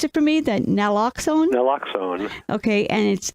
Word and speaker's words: naloxone: Can you pronounce it for me? That Naloxone?